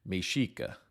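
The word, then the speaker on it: Mexica: Native Americans that we call Aztecs called themselves mesika it's spelled meex IA but pronounced mesika that's where the modern name of Mexico comes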